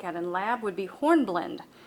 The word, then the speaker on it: hornblende: in lab would be hornblende the e is silent horn blend is also